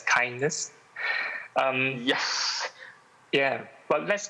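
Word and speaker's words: KINDNS: the the kindness initiative i think it's spelled as k-i-n-d-n-s but we will pronounce it as kindness um yes yeah but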